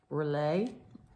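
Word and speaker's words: R'lyeh: i want to mention is a city called relay it is spelled our apostrophe l-y-e-h this was an this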